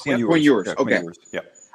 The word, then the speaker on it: Ewers: Quinn Ewers. Quinn Ewers.